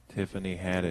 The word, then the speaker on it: Tiffany Haddish: Tiffany Haddish.